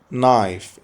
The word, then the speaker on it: knife: knife الكي silent مش بتتنطق، سكينة knife.